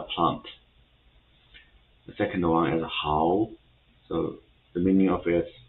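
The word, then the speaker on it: 蒿: one hao, third one hao, the fourth one hao. So for the first one, hao, the meaning of it is mugwort. So this is a plant. The second one is hao.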